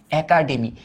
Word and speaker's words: একাডেমি: এটার উচ্চারিত রূপটা হবে একা, একা, তারপর হবে ডে, তারপর হবে মি, একাডেমি। এটা কেন এর উচ্চারণ এর মতো হলো?